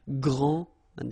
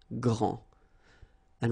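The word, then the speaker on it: grande: final s okay so gr and then same thing here gr and regarding the feminine form you will pronounce it Grand okay don't insist on the final but then pronounce this D Grand and then exactly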